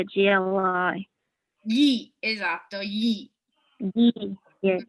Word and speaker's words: gli: G-L-I.